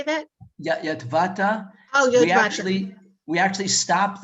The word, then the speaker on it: Yotvata: Yotvata.